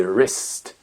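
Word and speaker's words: wrist: il faut s'en méfier un W qu'on ne prononce pas quand il est suivi de la lettre R très souvent par exemple un poignet se dit rest rest écrire c'est dit write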